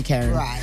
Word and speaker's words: Karyn: But what's the what's the what's the actual pronunciation? they say Karen. Karen. In the US they say Karen.